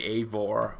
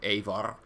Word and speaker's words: Eivor: I still tend to say Eivor while it should be Eivor.